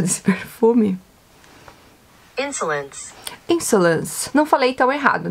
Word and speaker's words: Insolence: Querem aprender como é a pronúncia desse perfume? Insolence.